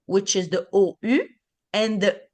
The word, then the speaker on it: ou: Oui ou non. So that's the ou. Okay. So the U on its own is a U. The OU together is the U.